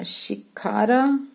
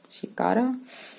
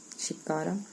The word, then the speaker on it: shikara: we sat in a shikkada shikara and some children moved the oars now catch my pronunciation mistake i want to say shikkara shikara um and what is that